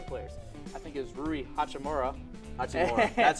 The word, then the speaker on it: Rui Hachimura: was two other players I think it was rui hachimura that's how you say it sorry and Austin